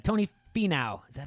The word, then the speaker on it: Finau: Tony Finau.